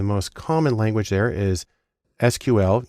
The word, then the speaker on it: SQL: The most common language there is SQL, usually pronounced SQL, which stands for Structured Query Language, because that's where the data is.